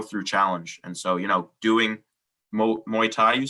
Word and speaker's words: Muay Thai: And so, doing Muay Thai, you said? Muay Thai, is that how you say it? Muay Thai, yeah.